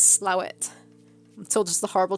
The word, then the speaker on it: Slaithwaite: no fan shot charlotte slaithwaite is a place in yorkshire that the locals pronounce slow it i'm told just the